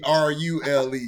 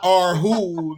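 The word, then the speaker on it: Rhule: It's supposed to be R-U-L-E. He supposed to be Rule, nigga. Not R-Who, nigga.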